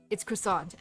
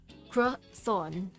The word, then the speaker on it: croissant: Yeah, it's croissant. You say it like this. Croissant. I know it's supposed to be something like that, like croissant, but man, I'm too used to croissant.